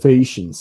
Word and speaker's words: Phaeacians: Is that how you pronounce it? Yes, the Phaeacians, yes.